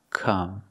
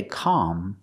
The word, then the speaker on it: come: come along with me the word come is pronounced with the sound uhuh like cup and up we make the short sound come we don't say Cal it's not an open Sound it's a closed sound Come Along come along